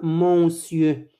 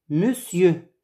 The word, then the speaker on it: monsieur: êtes ils sont monsieur on dit pas mon dieu mais monsieur matte de moselle mademoiselle